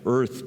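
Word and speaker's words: Eaarth: with this odd title Earth but spelled wrong e a a rth you kind of have to channel your inner Schwarzenegger to pronounce it correct sort of um um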